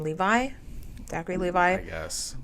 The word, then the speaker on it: Levi: yeah um it says Zachary how do you pronounce his last name Levi Zachary Levi yes called tone deaf for promoting